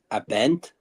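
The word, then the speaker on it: Abend: Bogey, but you still got to pronounce the a in guten. Abent.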